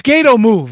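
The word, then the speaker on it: Gatoh Move: yes is it c8c it's gato move if you look up gato move it'll come up g-a-t-o-h because that's the promotion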